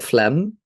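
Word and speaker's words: phlegm: slime is mucus or like Flem like fum in English fum fum sounds like a word that word that shouldn't exist fle silent G okay let's get back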